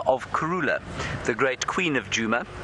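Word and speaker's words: Kurhula: way we've spelled it up until this point, K A R U L A is not in fact a word at all in Shangan.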